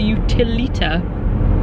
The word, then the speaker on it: Utilita: But we're on our way to the Utilita. It's the first time I've got it right, saying it once. Utilita? Oh, is that how you say it? That's awesome. Utilita.